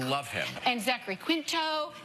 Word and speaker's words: Quinto: And Zachary Quinto. Did I say his name right? Yeah. Okay. Quinto, yeah. Matt Bomer.